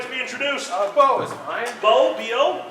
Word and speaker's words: Beau: Bo is mine. Bo, B-O? B-E-A-U, but it's pronounced the same.